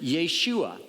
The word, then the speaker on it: Yeshua: Testament name Joshua and probably in those days you would pronounce it Yeshua and what the name